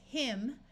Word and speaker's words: hymn: So this is him with a silent N.